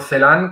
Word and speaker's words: Celan: la lectura placentera de Paul Celan, o Paul Celan, como pronuncia Arnau Pons más rigurosamente, Paul Celan, como acostumbramos a decir en el ámbito hispanófono, yo le he hecho esa